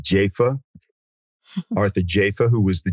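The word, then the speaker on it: Jafa: I used to call him Arthur Jaffa, but apparently he now pronounces it Jaffa.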